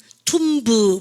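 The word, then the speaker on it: tomb: 무덤 뭡니까? 발음을 갖다 보세요. 툼 안젤리나 졸리 나오는 영화가 툼브레이더입니까? 툼레이더인가 이랬지 않습니까? 지난번에 그죠? 툼브 아닙니다. 그죠?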